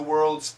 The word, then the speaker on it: world's: tough world's first underground so in this case the t connects a little bit worlds worlds this d s is a very heavy z it's a d and